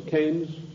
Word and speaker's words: Keynes: john maynard keynes or keynes he said keynes was a better word because it arrived with it rhymes with brains and this is the